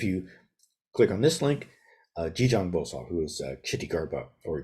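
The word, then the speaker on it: Jijang Bosal: over again if you click on this link G Jang Bosa who is Kitty Garba or jizo uh the this is the Korean pronunciation of The buddhis satva Who um uh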